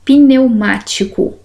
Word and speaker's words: pneumático: Pneumático. Não vou separar as minhas consoantes, elas precisam de uma vogal. Olha como eu pronuncio.